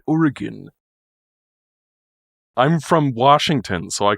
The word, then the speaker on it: Oregon: go to the Minnesota and hear people say Oregon let go I'm like and then I have to be the and then I have to be the one that goes actually it's pronounced Oregon I'm from Washington so I can tell you